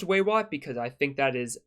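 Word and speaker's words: Weywot: moon might I add w-e-y-w-o-t I really hope it's pronounced way what because I think that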